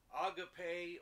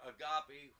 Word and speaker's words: agape: peter adds charity or love to brotherly kindness agape or agape we pronounce it but agape love is the god